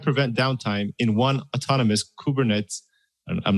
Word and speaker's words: Kubernetes: are you let me help you with the pronunciation it's kubernetes kubernetes you can tell i'm not a developer when